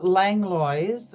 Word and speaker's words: Langlois: How can you pronounce it's Langlois? Well, Langlois, or if en français, it would Langlois.